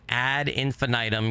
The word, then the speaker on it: Ad Infinitum: eastern time I hope you'll join me we are playing ad infinitum yes that's how you say it correctly it's a game that